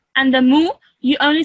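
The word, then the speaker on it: مُ: me okay that okay so you would pronounce this one over here as Mo can you say that yeah can say that after me moo mo mo okay Mo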